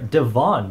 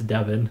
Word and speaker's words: Devin: I also keep wanting to call her Devon because her name is spelled differently from the other Devons that I've seen. Like when I see her name, my brain's like, Devon. But nope, it's Devin.